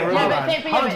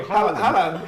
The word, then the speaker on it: Haaland: But just say Haaland one more time. How do you say it? How did I say it? Now you're going to make me say it like you. Haaland. And loads of people are commenting on the comments. Haaland. You need to stress that.